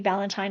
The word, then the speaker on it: Ballantyne: It sounds like Valentine, but it's spelled way different. And Ballantyne on Instagram or LinkedIn, Facebook.